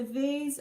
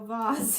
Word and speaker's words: vase: gauge wire and it's a vase or vase yeah so boss yes a vase or a boss that's right you could pronounce it both ways latest challenge was mirror